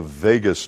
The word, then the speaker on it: vagus: through something called the vagus nerve pronounced just like las vegas right the vagus nerve